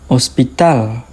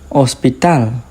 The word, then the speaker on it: hospital: Hospital. Hospital. Hora. Hora. The H doesn't make a sound.